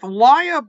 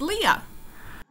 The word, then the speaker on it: Lya: released I'm here with liia did I pronounce your name correctly well you got the right my first name is pronounced Leah Leah the author